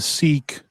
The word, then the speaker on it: Sikh: It's pronounced Sikh, isn't it? Yeah, it's pronounced Sikh.